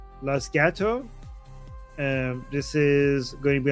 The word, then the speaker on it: Los Gatos: How do you pronounce this? Los Gatos. Los Gatos.